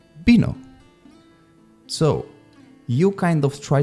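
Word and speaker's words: vino: like B for example bino which means wine as you can see at the beginning of the word is written with v but actually I said bino so you kind of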